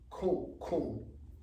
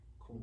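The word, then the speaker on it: Kun: In China, Coon, K-U-N. Pronounce the same, spelled different.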